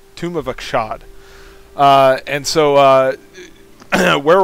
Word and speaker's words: Achshad: session of uh tomb of akshad i finally pronounced it right tomb of akshad uh and so uh where we're at is